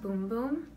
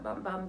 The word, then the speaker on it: Bum Bum: the bum bum but I think it's pronounced boom-boom actually but I call it bum bum because that's how I read it but yeah I think